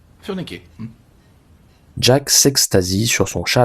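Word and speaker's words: Furniker: Par curiosité, comment le prononcez-vous? Oh, comme ça s'appelle. F-U-R-N-I-K-E-R. Ah, Furniquet. Furniqué.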